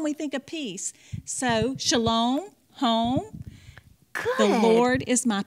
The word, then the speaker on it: shalom: i just remember that you said shalom rhymes with home oh yeah and what